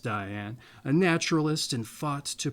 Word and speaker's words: Dian: There's no E at the end of that, so I'm assuming it's pronounced Diane.